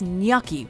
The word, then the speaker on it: gnocchi: plate, you should know it's gnocchi with a silent G, and that they're a substitute for more conventional pasta. So just make sure to drop that G and emphasize that O for a proper Italian pronunciation.